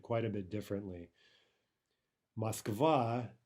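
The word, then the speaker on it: Москва: quite a bit differently Moskva is correct the incorrect version would be Moskva Moskva right all we've done there is misplaced the stress and then done everything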